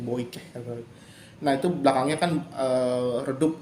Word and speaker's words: bokeh: Kalau teman-teman tuh ada yang suka rajin bikin bokeh kayak begitu ya, bikin bokeh itu gambar belakangnya buram, bacanya boikeh.